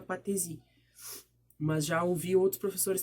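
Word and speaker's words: patesi: o chefe político era conhecido como patrese ou patrice dependendo da do jeito que vocês quiserem pronunciar eu pronunciaria patrese mas já houve outros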